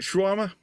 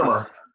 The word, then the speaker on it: Schermer: Is it Schwarmer? Get your pronounces Schermer. My father's Schermer. German, Schermer.